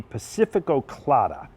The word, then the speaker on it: Pacifico Clara: This is the Pacifico Clara. Did I pronounce that right?